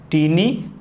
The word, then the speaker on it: taeniae: क्या है, ये संरचना टीनी कोलाई कहलाती है। क्या कहलाती है? टीनी। इसकी स्पेलिंग भी बड़ी स्पेशल है, आपको ऐसे याद रखना है, बड़ी special spelling, TAENIAE, टीनी coli इसे कहते हैं।